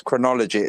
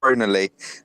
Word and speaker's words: Chronolyio: The only thing I picked up on is I think he pronounced it as chronology. It's pronounced chronally, but that will come out a lot through this conversation, so that's fine.